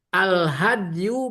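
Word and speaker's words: الهدي: Al hadyu bil fathi fasukun, ya betul bacanya al hadyu, huwa mayuhda ilal Ka'bah,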